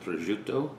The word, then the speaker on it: prosciutto: salami this is a receptor i'm italian it's pronounced prosciutto as you all know there it is that